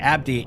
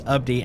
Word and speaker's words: Abdi: he did, I said thanks to Abdi, and it's like that is not how it's pronounced. It's Abdi, and I knew that because he literally has the pronunciation in his name, and I always feel so bad.